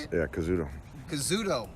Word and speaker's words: Kazuto: Kazuto, how do you say it? Yeah, Kazuto.